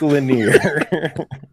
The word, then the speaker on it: Lanier: just making sure but it's pronounced linear Lake Lanier um but uh yeah